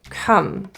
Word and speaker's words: come: fix the problem come the spelling here is a little off but it's pronounced as an uh uh rather than so think of this as no rounding come come come on it's